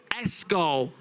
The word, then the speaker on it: Ysgol: It could be Iskol. Eagle. But also... You guys are from Wales, aren't you? YSGOL. How would you pronounce that? Escol. Escol. Escol, thank you.